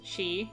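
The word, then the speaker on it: sidhe: lot of fairy lore it's pronounced she and is a reference to fairy mounds or hills the original phrase is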